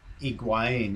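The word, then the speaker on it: Higuaín: I was thinking, what would we call Higuain if he did arrive at Arsenal?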